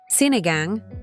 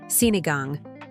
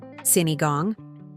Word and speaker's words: sinigang: The following week, the menu read staff inspired soup, sinigang, a Filipino tamarine stew. Customers asked about it. Some pronounced it wrong. Sineigong.